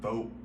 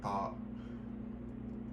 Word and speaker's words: Thoth: Some people pronounce it Thoth, some people pronounce it Thoth.